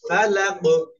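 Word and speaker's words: الفلق: ঠিক আছে না হ্যাঁ ফালাক কল কলার হরফ কফ সাকিন অবস্থায় উচ্চারণ করতে হবে তাহলে কফ কি কলকলা হচ্ছে একসাথে এবার পড়বো বি রব্বিল ফালাক বি রব্বিল ফালাক সকলে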